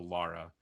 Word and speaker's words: Lara: reason somewhere in there they changed it to lara and that's just my very old brain like automatically going laura so if i say laura not laura that was just how they pronounced it i think it was always spelled like lara but the way they